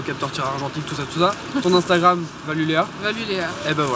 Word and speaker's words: Valulea: Valuléa, exactement. comme ça se prononce.